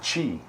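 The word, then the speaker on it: 痴: It's pronounced Chi, and it's unconsciousness, delusion, perplexity, infatuation, ignorance, folly,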